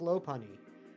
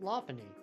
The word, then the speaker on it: Lopunny: we're hunting right now for years I called this low py but um again Ary uh taught me about the uh the Lop part and so now I pronounce it Lany but there are some